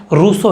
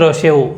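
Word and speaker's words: Rousseau: वैसे ही अपन रूसो, हिंदी में तो सिंपल रूसो बोल देते हैं, वैसे इंग्लिश के अंदर रोशेऊ, ऐसा थोड़ा अलग प्रोनाउंसिएशन है, वो देख लेना, वैसे कोई फर्क नहीं पड़ता।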